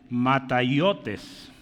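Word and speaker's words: ματαιότης: Esa palabra vanidad que usamos ahí se lee de esta manera, mataiotes.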